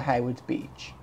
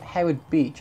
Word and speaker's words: Howard Beach: and Jersey Bert Jersey for Hayward's Beach I said it wrong all this time it's that Howard Beach I always sort of